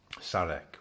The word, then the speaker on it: Szarek: Szarek with a silent Z.